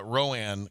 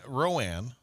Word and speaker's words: Rowan: said Ro I don't remember what you said Rowan County yeah yeah but the last time I always say ran don't give me a hard time there pet you you messed it up Roan Rowan yeah uh knocked off Idaho the fighting potatoes